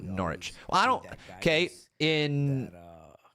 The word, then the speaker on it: Norwich: In Norwich, the W is silent. Just pronounce Norwich.